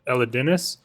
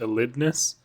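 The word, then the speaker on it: Elidinis: right in their video a lot of people said elness but there is another I after the D Elis I don't know don't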